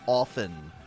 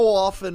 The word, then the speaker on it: often: Notice my correct pronunciation of often. The T is silent, people. How often are we going to hear these stories?